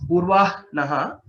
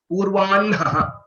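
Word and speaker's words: पूर्वाह्णः: Though some people say it as Purvah Naha, but the Vedic recitation tells us that it has to be pronounced as Purvan Naha.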